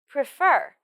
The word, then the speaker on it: prefer: uh D would prefer pre fur prefer the stress of this word is on fur prefer prefer meet m